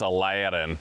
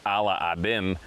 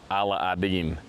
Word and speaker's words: Aladdin: It's Aladdin or Ala Aden, as I've been told it's pronounced.